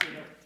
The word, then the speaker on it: Weidul: It's pronounced Weidul.